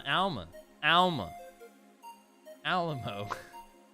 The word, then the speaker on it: Alma: historically been used in masculine form as well Alamo Alama al mama what man said Alamo asked Google I do it I just look goo --gel doesn't have a pronunciation for it I looked Alma Alma oh okay Alma gotcha Alma that's how you're